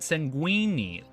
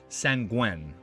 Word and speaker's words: sanguine: Not linguini, not sanguini. Sanguine. Or this part, father's. I like him. They mess it up and it's pronounced sanguine.